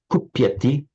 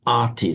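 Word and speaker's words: कुप्यति: pronouncing it as an arty sound. But I said, no, it's not pronounced arty as in a Maserati car, it's ati, kupyati, kupyati.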